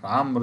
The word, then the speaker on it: عمرو: الرعاية كلمة بها حرف ينطق ولا يكتب، ينطق ولا يكتب، وهتقول لي عمرو، عمرو ده بيكتب ولا ينطق، يعني عكسه.